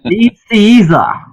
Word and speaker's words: Nicieza: So, yeah, if you listen to the interview, the first thing you'll hear is him berating me for getting his name wrong. But, Nicieza.